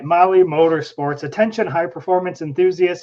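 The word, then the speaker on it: Mahle: For our podcast listeners, Molly is spelled M-A-H-L-E.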